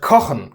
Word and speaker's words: kochen: Well, that doesn't happen in the word kochen, to cook. The A here is short.